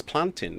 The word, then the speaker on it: plantain: interesting ones is that she made us pronounce plantain as planting as in fountain but i still say plantain though oh you rebelled